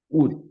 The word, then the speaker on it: would: Remember that este modal se pronuncia solamente W-U-D, ni la O ni la L suena, o sea, suena would, ready?